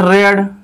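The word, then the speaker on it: read: ठीक है, तो यहां पर क्या बोलेंगे हम, सी हैज नॉट रेड, स्पेलिंग वही लिखना है लेकिन पढ़ना है रेड, तो सी हैज नॉट रेड।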